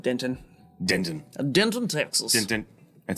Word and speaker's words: Denton: dinner exactly sure yes uh uh he mispronounced it it says they say Denon who says that show me the person who says that Glory B Fry Street okay yes they do know Denton then Rice Street Fry Street the bubble man